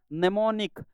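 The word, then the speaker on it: mnemonic: ठिकाणी होईल त्यानंतर बघा incorrectly spelt नेमोनिक एन एमओ एन आय सी आणि आधी एम जो आहे तो काय असणार आहे सायलेंट असणार आहे हे स्पेलिंग बरोबर आहे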